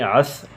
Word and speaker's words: عصر: یہ غلط ہے، صبر۔ عصر، ہم عصر بولتے ہیں، عصر ٹھیک نہیں ہے، عصر یہ درست تلفظ ہے۔ لفظوں کا کھیل،